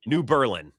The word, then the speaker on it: New Berlin: New Berlin.